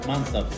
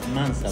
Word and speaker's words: mansaf: Esto es un plato típico, se llama mansaf. Se basa... ¿Mansaf? Mansaf. ¿Se escribe cómo?